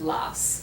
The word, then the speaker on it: las: And remember, in Spanish, remember to pronounce the S at the end Okay. of las.